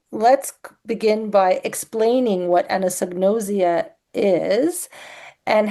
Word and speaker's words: anosognosia: So we are going to be talking about anosnosia.